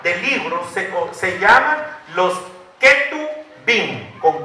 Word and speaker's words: Ketubim: Esa grada de libros se llaman los Ketubim, con K. Así se escribe, con K. K-E-T-U-B-I-I-M. Los Ketubim.